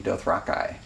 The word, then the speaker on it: Dothraki: He pronounces Dothraki, Dothrakai.